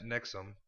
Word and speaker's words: NXIVM: Yeah, pronounced Nixum.